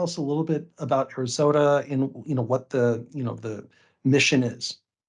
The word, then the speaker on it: ArizOTA: Is it Arizona OTA, ArizOTA? How do we want to pronounce that? You've got it. It's the Arizona Occupational Therapy Association, ArizOTA. ArizOTA. I love it. Okay, I thought that was the case, but I'm glad I got it right.